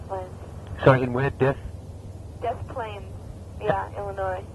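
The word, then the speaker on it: Des Plaines: Death Plains, yeah, Illinois. Right. How do you spell that? D-E-S. Right. P-L-A-I-N-S. Oh, Death Plains, right. It's actually the plan, I think, but they call it Death Plains.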